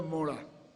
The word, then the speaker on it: मोड़ा: देखो एक मात्रा का उच्चारण है मोड़ा और दो मात्राओं का उच्चारण है मऊड़ा। अब वो है मोड़ा, मोड़ा मोड़ा समझ गए ना।